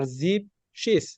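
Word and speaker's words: siebzig: 7 কে জিবেন জিবেন আমি প্রথমে বলছিলাম যে শুধুমাত্র 70 এবং 17, মানে 70 আর 17, শুধু এই ক্ষেত্রেই জিবেনকে আমরা জিপ বলবো। জিপসেন মানে 17, আর জিপসিস মানে 70।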